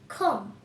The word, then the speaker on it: comb: COMB, খম। বন্ধুরা, এখানে কিন্তু বিটা উজ্জ্বল আছে অর্থাৎ সাইলেন্ট আছে।